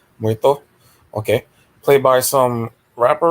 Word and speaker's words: Muerto: Some random character that was in like one comic or something named El Moruto, whatever. I heard the pronunciation. Yeah. Muerto.